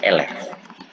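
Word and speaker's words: élève: Nah, kalau misalnya siswa PAUD, TK, SD itu bahasa Prancisnya adalah elef. Bacanya elef. Atau mau eleve ble, elef. Yang benar tuh elef. Ini salah aksonnya, désolé. Elef, bacanya elef.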